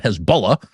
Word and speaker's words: Hezbollah: Hezbollah, or as it is often known uh on American television, Hezbollah, kind of the key of pronunciations, people who know what they're talking about call them Hezbollah.